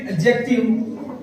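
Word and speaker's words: adjective: फिर एडजेक्टिव। एडजेक्टिव आप जब उच्चारण इसका देखोगे, इसमें डी नहीं पढ़ा जा रहा है, इसको बोलते हैं एडजेक्टिव। डी इसमें नहीं आएगा।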